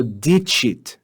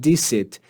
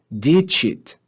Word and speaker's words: dicit: by E or I, it's read with the sound ch. So dicit, not dicit, dicit, all right? Facite. So if there's one thing to take away from today's lesson, just try to pronounce those C's either as hard as the letter K in kana or soft as ch in facite and dicit, okay?